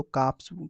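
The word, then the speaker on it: calf: काल्प्स बोलते हैं और जो नहीं है एक है तो काफ्स काफ बोलेंगे के एफ काफ ऐसे उच्चारण करने के लिए मैं बोल रहा हूं काफ ठीक है एल साइलेंट रहता है काफ ऐसे ठीक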